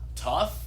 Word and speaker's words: tough: Tough. That's uff. Yeah, I know. English's spelling is crazy. This should be like that. Yeah. In fact, I have even seen some pop songs even start spelling it that way because that's how it's pronounced.